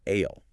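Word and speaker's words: aisle: As we emphasized earlier, the silent exactly it's pronounced ale with that completely silent s.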